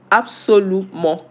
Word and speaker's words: absolument: In English, how is it pronounced in French? Absolument.